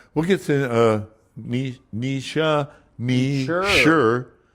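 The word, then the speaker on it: Nietzsche: We'll get to uh Ni- Ni- sha Ni- sha. Yeah, we found out that Ni- sha Ni- sha all these people that Jordan all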